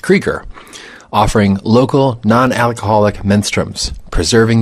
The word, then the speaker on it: Krueger: Yes, that's pronounced Krueger.